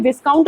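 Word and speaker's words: viscount: करा दू कहीं भी विस्काउंट लिखा मिले तो कंफ्यूज नहीं होना है है ना यही है स्पेलिंग क्योंकि एस उसम साइलेंट है तो हिंदी वाले जो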